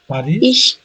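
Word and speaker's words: Paris: স্যার এটা হবে পারিস, প্যারিস না, পারিস।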